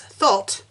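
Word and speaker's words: thot: guess it is an actual word so it's thought and it's a woman who has many casual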